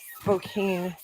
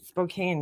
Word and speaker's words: Spokane: say we say Lancaster Spokane Spokane yeah see Spokane that's how I would say it I wouldn't say Spokane just like with this